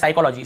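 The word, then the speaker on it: psychology: एस से पहले पी आए तो पी साइलेंट होता है, तो देखिए एस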